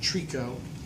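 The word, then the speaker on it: tricot: It's called Trico. In a factory, it's spelled T-R-I-C-O-T.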